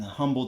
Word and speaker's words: Humble: event out here in Humble Texas yes I say humble it has an H in front of it okay I pronounce the H she put out as